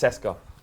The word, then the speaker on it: CSKA: If I'm wrong, I'm pretty sure it's not pronounced AEK. It's pronounced Ike Athens in the same way that CSKA is pronounced Seska.